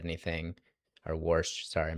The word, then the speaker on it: Warsh: I doubt that Walsh has said anything, or Warsh, sorry, I mispronounced his name. His name is basically pronounced like if you live in the Northeast and are trying to say wash.